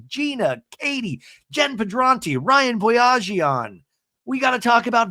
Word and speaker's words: Boyajian: And then I realized it was Ryan Boyajian.